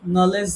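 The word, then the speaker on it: knowledge: এরকম অনেক, নলেজ লিখতে গেলে মাঝখানে একটা ডি আছে, কিন্তু আমরা উচ্চারণ করি না।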